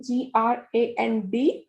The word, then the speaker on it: grand: So if a boy is saying that I am tall, then you will use the spelling GRAND. But if a girl is saying, then we will use the spelling GRANDE.